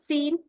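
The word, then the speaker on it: scene: याद रखना है कि जब भी एस के बाद सी आता है तो सी साइलेंट होता है जैसे कि साइंस की स्पेलिंग होती है। है ना? सीन की होती है।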